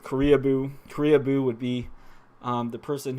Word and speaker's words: Koreaboo: So weeaboo rhymes with Koreaboo.